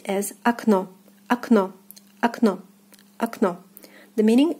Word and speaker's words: окно: So the first O will be reading as A, and the second as in the alphabet O. So the word is pronounced as окно, окно, окно, окно.